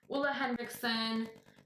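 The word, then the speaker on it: Ole Henriksen: the hula or all I heard videos on how to pronounces and he says his name is Uma Henriksen so we're gonna go with Ola Ola Hendrickson the see brush brightening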